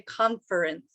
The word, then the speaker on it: conference: saying it conference i say it with two syllables okay some people might say conference right if you're one of those people it's